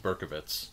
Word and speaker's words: Berkowitz: directed by Dan River technically it could be pronounced berkovitz but I don't think it's berkovitz I think it's Berkowitz we're still doing the